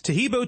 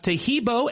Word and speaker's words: Tahibo: Tahibo is spelled T like Tom, A-H-E-E-B like boy. Oh, that's Tahibo, and then continue with the word tea and then the word club.